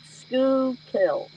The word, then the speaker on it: Schuylkill: river Maine Google like School kill yes like School kill if you try to pronounce it the way it's spelled it it just doesn't sound right well you can't pronounce